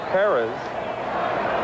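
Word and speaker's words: Pérez: I guess the proper pronunciation of pz is paras, but it's been Americanized.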